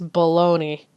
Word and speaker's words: bologna: I mean, seriously, what the It's spelled bologna, yet it's bologoney.